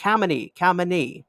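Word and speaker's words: Khao Manee: if you're just curious k-h-a-o-m-a-n-e-e comedy comedy about 98 sure that pronunciation is correct how many comedy all right sphinx the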